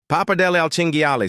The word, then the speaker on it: pappardelle al cinghiale: "It's pronounced pappardelle al cinghiale, sir.